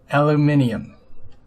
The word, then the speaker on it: aluminium: in Europe you say it the other way aluminium there now I've said it we all have